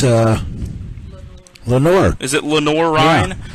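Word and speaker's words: Lenoir-Rhyne: Is it Lenor Ry? Lenor Ry.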